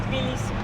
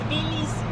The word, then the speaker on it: Tbilisi: By the way, I always pronounce Tbilisi wrong. Can you help me, Anastasia? Tbilisi. Tbilisi. No, Tbilisi. Tbilisi. Yes.